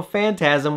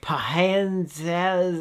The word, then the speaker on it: Phantasm: a young kid, and I couldn't figure out that the PH was actually a F sound. So I was like, Phantasm, like I couldn't pronounce it.